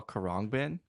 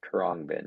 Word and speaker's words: Khruangbin: I saw Kurrangbin. Kurabang. I always mess up how you say it. Khruangbin, yeah, Khruangbin.